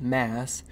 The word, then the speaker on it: MAAS: at the key features maybe we could pronounce this as mass so Mass a key features automation automatic